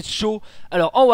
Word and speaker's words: Sjow: Entre ces deux merveilleux, excellents, magnifiques joueurs, Shaw ici en haut à droite, et oui, ça se prononce Shaw, voilà, S-J-O-W, Shaw.